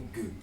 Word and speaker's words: good: Você sempre vai pronunciar esse good como gu. Good.